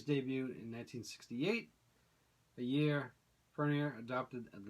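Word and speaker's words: Furnier: His first name is Vincent, and I can never pronounce his last name correctly. It's like Fournier.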